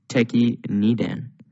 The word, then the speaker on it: Tekki Nidan: In today's kata video, we're going to be looking at your 8th black belt kata, or your 18th kata, which is pronounced Tekki Nidan.